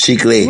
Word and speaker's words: chicle: And the way you even said, no, I don't, first of all, I'm not even like, it's not chicle. That's not how you say it in Spanish. It's chicle. What kind of crazy ass way to say that?